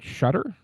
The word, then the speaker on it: Shutter: And this week I'm joined by the creator Shudder. Am I pronouncing your last name correctly?